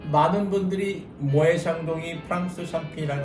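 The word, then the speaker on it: Moët & Chandon: 대부분의 분들이 또 이 발음을 모엣 샹동 이렇게 발음하는 분들이 많아요. 그렇죠. 요거는 사실 저도 조금 얘기를 들어보고 싶었는데 네네. 왜 모에 자. 모에 샹동이라고 하는 거예요?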